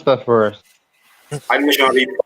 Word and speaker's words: Animashaunhabeb: Can you pronounce that for us? Animation Habib 5.